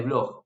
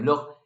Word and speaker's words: Bloch: Es la esfera de Bloch, o Bloch se escribe, ¿no?